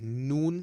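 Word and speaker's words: ن: The next one we have is noon. Similar to a n in English. So we've got noon.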